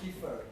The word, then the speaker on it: Kfir: Kiefer, K-F-I-R. KFIR. He's a brilliant artist.